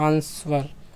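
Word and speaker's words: answer: जो कि साइलेंट है तो साइलेंट होता है हमारा जो है डब्लू होता है ठीक है ना आंसर आंसर जिसे कहते हैं आंसर नहीं कहते ठीक है क्वेश्चन नंबर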